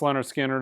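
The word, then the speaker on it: Lynyrd Skynyrd: Pronounced Leonard Skinner is on my top 100 imprint analog records list you should own.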